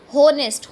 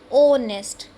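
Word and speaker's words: honest: अब यहाँ पर है होनेस्ट। होनेस्ट तो हम इसको बोलते नहीं, क्या बोलते हैं? ओनेस्ट।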